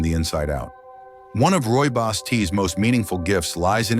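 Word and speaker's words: Rooibos: Roy Boss tea, pronounced Roy Boss, may not be as well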